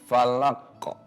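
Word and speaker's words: فلق: Karena ada hukum qalqalah jadi dibacanya falaqo.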